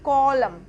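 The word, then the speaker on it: column: हम पढ़ेंगे कार्य लानत सी ओ एल यू एम एन कॉलम नहीं होता इसको हम पढ़ेंगे कॉलम क्योंकि एन हमारा साइलेंट होगा और साइलेंट क्यों होगा क्योंकि एन लेटर से पहले हमारा एम है एम लेटर है तो इसका साउंड होगा कॉलम कॉलम इसे स्तंभ भैया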